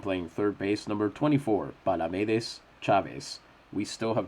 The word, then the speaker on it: Palamedes: We still have not gotten an authoritative ruling on whether it's Palamedes or Palamedes, but we're fairly sure it's Palamedes because Palamedes would have an accent on the second A.